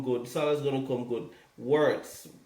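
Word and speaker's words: Wirtz: Words. Am I pronouncing his name right? Verts, whatever his name is. It's German. Yeah. Verts, yeah.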